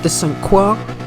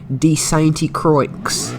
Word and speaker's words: Sainte-Croix: track in question is circuit descent quark the B variation or as I like to call it circuit D st. he croaks because of how it is spelt now this is an